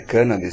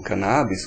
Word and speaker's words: cannabis: Por coincidência, é uma substância, a cannabis, né, que na verdade a pronúncia certa é cannabis e não cannabis, como quase todo mundo fala, ela não é a